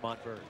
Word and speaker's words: Montverde: But it's pronounced Montverde.